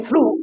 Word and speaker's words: through: Well, tough, well, we don't know when to actually pronounce GH as fit sound. Here, we didn't pronounce it in light in the first place, but here we pronounce it f. Again, in through, we don't pronounce it.